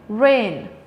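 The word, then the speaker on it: reign: has me repeating again rain g is silent mcq is number 12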